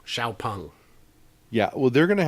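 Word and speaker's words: XPeng: just call it an x-pang you'll sell more yeah because it's very hard for us english speakers to look at an x and pronounce it s h i'm working on it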